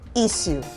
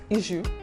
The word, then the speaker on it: issue: Another everyday word is the word issue or issue. What do you say, Tosin? Issue. Is it an issue? Now, some people say issue while others say issue. Okay. Both pronunciations are correct.